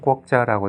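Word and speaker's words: quốc gia: 저 굉장히 인상적이었고, 요 건물은 투비엔 꾸옥자라고 되어 있는데, 꾸옥자가 국가의 그 베트남식 발음이고요.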